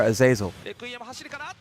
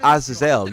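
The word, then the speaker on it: Azazel: Um, it's not Aazelle. You know that, right? It's not Aazelle. It's aazil. You know that is a biblical word, right?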